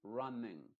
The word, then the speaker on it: running: i modificada luego en todas las palabras que terminan en ing la ng esa g no se pronuncia la n solamente se pronuncia de forma nasal que después lo vamos